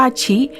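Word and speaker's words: 四: 4 เป็น เลข อัปมงคล เพราะ มัน ออก เสียง ว่า ชิ ที่ คล้าย กับ คำ ว่า ตาย ว่า กัน ว่า ลูก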